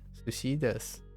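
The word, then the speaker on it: です: Sushi, oh, you mean like because it sounds like desu, like des sounds like one. Yeah, there that's a little idiosyncrasy about Japanese. Yeah.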